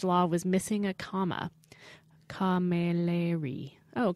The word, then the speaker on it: Camilleri: Camilleri. Oh, Camilleri. They give you a pronunciation thing right here next to her name.